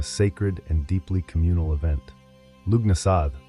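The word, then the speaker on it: Lughnasadh: Lugnasad, pronounced Lunasa, the Celtic festival honoring Lug, the god of light, craftsmanship, and war.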